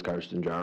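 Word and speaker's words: Carsten Jahr: Uh my name is Carson Jahr. Can you spell that for us?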